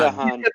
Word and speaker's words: DeHaan: DeHaan.